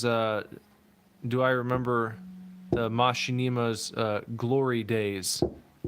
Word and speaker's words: Machinima: Kara said, how did this man just pronounce Machinima? Did you do it wrong? I said it like that. Machinima.